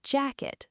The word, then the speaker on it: jacket: The pronunciation is jacket with the stress on the first part.